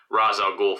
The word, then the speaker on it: Ra's al Ghul: Neeson al ghul fat Ra's al Ghul found him I know it's pronounced duration most other media but but it is pronounced Roz in the movie I think Ron sounds